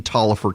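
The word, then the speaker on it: Taliaferro: the virus you know I keep mentioned in Tolliver County one just because I want to prove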